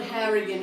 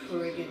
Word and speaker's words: Horrigan: It's not Harrigan. He doesn't even know how to say his last name. It's actually Horrigan. It's Horrigan. It's Lord.